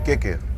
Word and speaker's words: Keke: En hoe spreek je het uit? Ompie Kikker. Kikker, oké. Okay. Ja, ik dacht Kiki. Nee, dat is mijn oom.